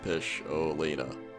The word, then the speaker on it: Pisholina: Just so you don't make a pronouncing mistake, it's Pisholina.